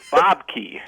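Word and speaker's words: Bobke: go with bob key because it was the american pronunciation of a flemish you know uh name and then i just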